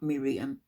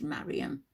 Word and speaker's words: Mariam: It's not Miriam, it's Mariam. Mariam, not Miriam.